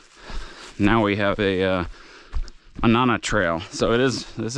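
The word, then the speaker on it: Mānana: We're doing the Manana spelled like Manana, but obviously it's not Manana. Manana Ridge uh up to the Ko'olau Summit.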